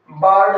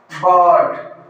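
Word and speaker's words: bird: पे जोर दिया था कि हम क्या बोल देते हैं? बर्ड बोल देते हैं। तो इसका करेक्ट प्रोनाउंसिएशन मैंने आपको क्या बताया था? बर्ड। ध्वनि हमें थोड़ी लंबी खींचनी है, बर्ड।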